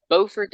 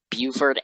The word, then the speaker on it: Beaufort: says beaufort and c on it but i always thought it was pronounced buford nc it's not then and then